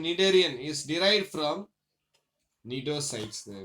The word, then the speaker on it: Cnidaria: Pronunciations Cnidaria.